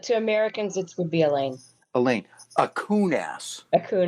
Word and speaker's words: Allain: Alicia correct correct correct I believe the pronunciation of your last name is Elaine it is so if